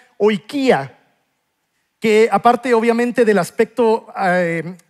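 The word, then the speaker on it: οἰκία: Ahora, cuando Jesús dice casa, en el griego original es una palabra que se pronuncia oikia.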